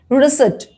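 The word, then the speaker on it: receipt: i p t letter p is silent so when you say this word how do you say it i heard people saying they even pronounce the word called p is totally silent reset right you can say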